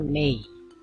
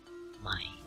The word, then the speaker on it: may: Ingat di sini bacanya may bukan my, ya, may, ya, may I, bukan my I ya.